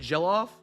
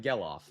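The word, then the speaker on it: Gelof: I've been saying jellof. It's not. It's like gellof.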